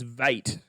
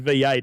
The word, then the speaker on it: V8: But the commentator was pronouncing it as Vate. Vate. It is vet. But if you look at the sire of the horse, the sire's name is Grunt. Right? So his name is actually V8.